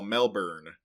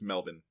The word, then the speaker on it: Melbourne: he was from Melbourne, which we Americans would call Melbourne, but apparently you just don't pronounce that R, it's Melbourne.